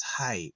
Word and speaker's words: Heidt: His name is Height.